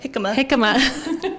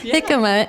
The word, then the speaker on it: jicama: to be saying, "Hey, Mom, look at this himica," or what is it? Am I saying it right? Jicama. Jicama, and we can do it like this, this, and this.